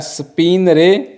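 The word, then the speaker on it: spingere: ये जो जी है ना, ये साइलेंट है, स्पिनरे।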